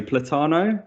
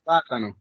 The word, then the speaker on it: Plátano: So Platano, is that correct? Oh, you were so close. You were so close. It's Plátano.